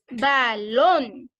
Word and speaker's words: balón: La primera sílaba ba o lon. Lon. Lon. Entonces, y termina con N, entonces quiere decir que el acento va en la vocal, que sería la O.